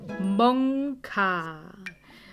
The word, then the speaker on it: Monka: So, und der Hund heißt Monka. Moni, es wird mit K ausgesprochen. Nicht mit G.